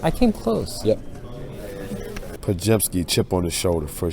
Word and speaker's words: Podziemski: How do you pronounce it? Podziemski. I came close. Yep. Podziemski, chip on the shoulder for sure.